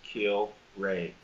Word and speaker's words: Kilrea: probably have seen Danny kill ray gets kill ray that's exactly how you say it from Lyons Township